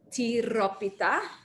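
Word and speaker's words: τυρόπιτα: dish pretty much there it is called tiropita can everybody say that with me please you have to roll your r pita in greece uh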